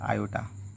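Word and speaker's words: iota: और इसका जो प्रोनाउंसिएशन है इसको अपन बोलते हैं आयोटा।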